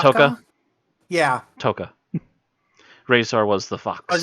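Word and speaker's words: Tokka: Was it Taka? Toka. Yeah. Toka. Razor was the fox. Was that how you pronounced it?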